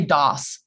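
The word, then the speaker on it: Das42: Is it DAS 42 or is it DAS 42? What's the proper pronunciation? I think we all tend to say DOS.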